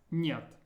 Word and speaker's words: нет: This was pronounced нет, нет.